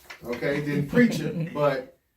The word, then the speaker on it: Preacha: So, Preacha, that's how you say it.